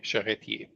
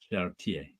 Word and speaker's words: Charretier: And you don't pronounce the R in the end of her name. Probably Ranger Sly told me that. Yeah, Charretier. Charretier.